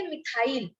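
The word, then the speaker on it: methyl: लेकिन वो उसको हम प्रोनाउंस कैसे करेंगे, मिथाइल।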